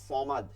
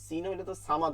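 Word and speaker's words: صمد: মোটা সাইদনা সাদনাফদি সাই চিকন সাহলে বলতাম সদ আল্লাহু সমা আল্লাহু সমাদ সামাদ হইতো কিন্তু আমরা কিন্তু পড়ি ভুল অনেকে সামাদ পড়ি এটা কিন্তু বাংলায় দেখবেন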